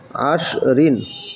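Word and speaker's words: عشر: দেখেন আইনশিন জবর আশ আইনশিন জবর আশ রদ ঋণ কি হলো আশরিন আইন শিন জবর আশ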